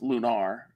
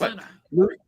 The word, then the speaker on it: Lunar: If you're Victor Ireland, it is pronounced Lunar. Yes, Lunar. Yeah, it's Lunar. These games are playing behind me.